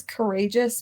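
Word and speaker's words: Karagias: real last name his real last name is courageous but not spelled like courageous no it's it's k-a-r-a -g-i-a-s courageous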